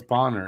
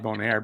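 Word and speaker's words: Boehner: a so it's it's bonner it's still bonner there you go but it's okay boner is good john bonaire no it's bonner it's not bonaire because there's no i i think maybe that's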